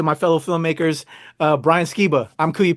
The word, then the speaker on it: Skiba: meet you pleasure um pronouncing your last name skeba yeah you got it awesome I appreciate that